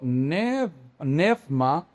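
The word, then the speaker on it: πνεῦμα: To neuma, en la pronunciación antigua hoy sería to nefma mi al espíritu no lo apaguéis.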